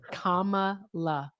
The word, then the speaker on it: Kamala: Do you think it was okay for Kama Harris to want Baby, just say Harris.